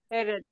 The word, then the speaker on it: headache: Headache. Headache. Headache or headache? Headache. Headache. Headache. Guys, I want you to imagine that here is like K.